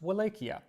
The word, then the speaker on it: Wallachia: Now, when Dracula was still a young boy, his father became ruler of Wallachia. Sometimes you'll hear it pronounced Wallachia.